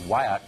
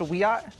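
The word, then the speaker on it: Wiyot: a member of the Wyatt Tribal Council in California and she joins us tonight Madison thanks for coming on hi um thank you for having me it's pronounced weat oh I beg your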